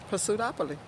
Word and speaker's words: Pursuitopoly: Well, it looked like pursuit to me. Right. So Pursuit. say the whole thing together. Pursuitopoly.